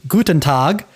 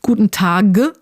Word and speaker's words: Guten Tag: But the idea is that if you have a b, d, or g at the end of a word, it's going to be pronounced p, t, or k. Yeah, like perhaps the most internationally famous German phrase, Guten Tag. Well, at least that's how I said it in the beginning, but in German class, I quickly learned that actually it's pronounced a bit differently.